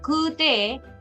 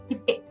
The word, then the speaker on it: 来て: But here, if this is the kanji and if it is te, it is not kute, it is kite. 来て、 Kite. So, kite.